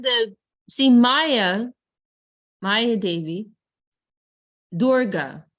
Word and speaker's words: Durga: so the word Durga there's two durgas there's Durga with a short a and there's dorgo with a long a and one is referring to the person and the other means a prison so she's Durga is